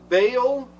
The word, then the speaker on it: Baal: And what happens is, again, the story tells us, and they worship the Baals. It's interesting is that Baal which is Baal, depends on how you want to pronounce it, But Baal is according to the